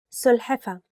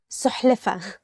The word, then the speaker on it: سلحفة: سلحفة. Turtle. سلحفة. Turtle. And sometimes people mix it with سحلفة.